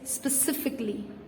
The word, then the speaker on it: specifically: pronouncing it specifically no the a the wall between the c and the l is usually silent so it's specifically specifically specific and specifically